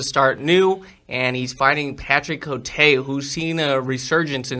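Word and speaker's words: Côté: I'm surprised he's not fighting in between fights, and that is the Cowboy, and he's fighting Patrick Cote. Oh wow, said that name wrong. Patrick Cote.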